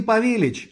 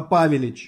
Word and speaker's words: Павелич: не Лехи а Лехи не павелич а павелич не усташи а усташи